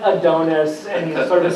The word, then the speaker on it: Adonis: I've ever dealt with but it's not pronounced the way he did I know but his name is Lord Adonis and it turns out he says it Adonis and he's sort of